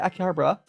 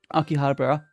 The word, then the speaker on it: Akihabara: Yeah, I I'll do Akihabara Akihabra. I need to better pronounce that. Yeah, I could do um Akihabara.